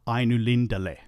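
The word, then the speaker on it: Ainulindalë: Even if the two dots did not exist, Ainu Lindele would be the correct pronunciation.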